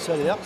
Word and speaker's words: Salers: Moi je dis Salers, oui, il y a le S à la fin.